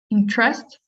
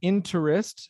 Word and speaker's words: interest: is what was it interest interest yeah just uh good yeah so the first time you said interest and now interest because this the stressed syllable is the first syllable interest interest one minutes